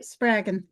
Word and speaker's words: Spraggon: Did I pronounce that correctly? Yep, Spraggon.